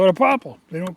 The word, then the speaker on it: popple: really a quaking aspen the reason we call it POA like the way we spell it is p o p p l e but it's really uh the name came from the Scandinavian loggers like in Swedish Aspen is is called pop but it's called p